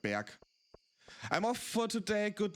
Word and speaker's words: Berg: It's not pronounced Berg, but Berg.